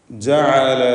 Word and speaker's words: جَعَلَ: ജഅല ലകുമുൽ ലൈൽ വമിർ റഹ്മതിഹി ജഅല ലകുമുൽ ലൈൽ. ജഅല ഐനിൻ്റെ ഉച്ചാരണം പ്രത്യേകം ശ്രദ്ധിക്കേണ്ടതാണ്. ഹൽക്കിയായ അക്ഷരമാണ്. തൊണ്ടയുടെ മധ്യത്തിൽ നിന്നും ഉത്ഭവിക്കുന്ന ഐൻ.